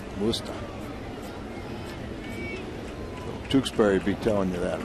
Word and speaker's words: Worcester: That's how they say it in Worcester. Worcester.